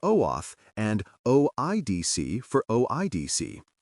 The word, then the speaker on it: OAuth: Pronounce OAuth for OAF, and OIDC for OIDC.